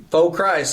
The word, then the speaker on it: Faux Christ: And we had to come up with a name, so we're like, Faux Christ. Let's just basically spell it how you say it. Just say Faux Christ.